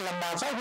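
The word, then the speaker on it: Labasa: अंग्रेजी में उसको एल ए बी एस ए लिखते है लेकिन बोलते हैं लंबासा उसका मूल भाषा में उच्चारण है।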